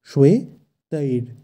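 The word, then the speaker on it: শ্বেতৈর্: আমরা জানি তালিবর্ষ থাকলে শয়ের উচ্চারণটা হয় স, স কিন্তু নয়, এবং অন্তস্থীয় ব থাকলে সংস্কৃতে বয়ের উচ্চারণ হয় ওয়া, তাই এক্ষেত্রে উচ্চারণটি হবে শ্বে।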